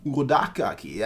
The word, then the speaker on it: Urokodaki: in the future, but that's actually not how you say his name. It's pronounced Urodaki, and I'm like, okay, cool.